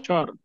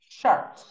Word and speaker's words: short: We pronounce incorrectly in Spanish. How do we say in Spanish? We say chores, right? But it's incorrect. This is short.